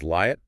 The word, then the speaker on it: Liat: And just to make sure we get the pronunciation absolutely correct for you listening, her first name is Liat, pronounced as a long Lee, and then triple L at Portal.